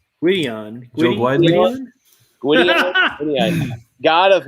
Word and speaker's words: Gwydion: Gwydin? Gwydion.